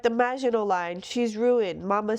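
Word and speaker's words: Maginot Line: You know, like and Mel and I realized we were saying this wrong, this word wrong. What's the right way to say it? Hold on. Just imagin line. She says, you know, like the Magino line, she's ruined.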